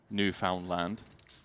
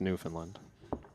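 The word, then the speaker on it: Newfoundland: Although whoever discovered New Found Land lacking a bit of originality on the name, you know, it's pronounced New Finland.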